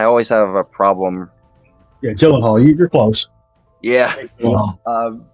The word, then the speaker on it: Gyllenhaal: Yeah, Gyllenhaal, you're close. Yeah, pronouncing the last name.